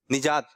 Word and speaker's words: نجات: نون کے نیچے زیر. چلو آپ. نجات. آپ نجات. کھڑے ہو کے. نجات. نجات. کچھ لوگ کہہ رہے ہیں نجات اور کچھ لوگ کہہ رہے ہیں صحیح تلفظ ہے نجات.